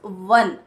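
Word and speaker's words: one: से ओ है ना, बट the pronunciation is वन, व, ठीक है। तो व इज a consonant sound, not a vowel वन, ठीक है, इसीलिए हम यहाँ पे ए यूज करेंगे।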